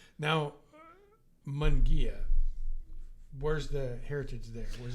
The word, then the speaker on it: Munguia: to pronounce it so the easy way to do this is to say m mu n and the next word Gia Gia Mia and for and for us folks out there who are Old-Timers you'll know about the Volkswagen Carmen gear that was always the easiest way to tell people how to pronounce my name because he he told